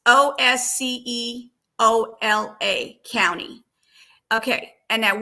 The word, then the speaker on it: Osceola: It's Osceola County.